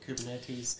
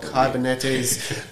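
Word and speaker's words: κυβερνήτης: was adapted from a Greek word kubernetes uh I hope I've probably pronounce that incorrectly kubernetes kyber kybernetes uh KU e r n e t s uh which means a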